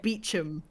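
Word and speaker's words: Beauchamp: Ignore multiple letters Just- like Chumley and Beecham. Just ignore the central third of the word, because why wouldn't you?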